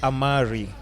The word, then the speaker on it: Amare: Okay, so it's Amari. Amare. So Amare is actually a Latin word. Mm-hmm. It's a Latin verb and it means to love. So it stems from Latin, but I guess you can pronounce it however you want.